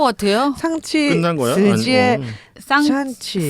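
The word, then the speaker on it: 尚气: 샹치 아니 근데 중국어 발음 중에 혀를 안으로 마는 게 있지 않습니까? 쌍이 말아야 됩니다. 샹, 사실. 샹. 샹. 안으로 예. 알 발음 하듯이 네네네.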